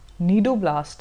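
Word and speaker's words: cnidoblast: और इस टेंटिकल्स के अंदर ऐसे आप देखो जो रेड कलर के मैंने बनाए ये आपके नीडोब्लास्ट है। स्पेलिंग सी से होएगी बट इनको बोलते हैं नीडोब्लास्ट है।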